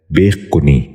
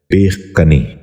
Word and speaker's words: بیخ کنی: غور سے سنیے، بطن۔ تیسرا لفظ ہے بیخ کنی۔ یہ غلط تلفظ ہے، اس لفظ کا درست تلفظ ہے بیخ کنی۔ دوبارہ سنیے، بیخ کنی۔